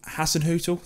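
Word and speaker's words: Hasenhüttl: have see again 17th we have southampton ralph hasson hotel that is definitely how you say it when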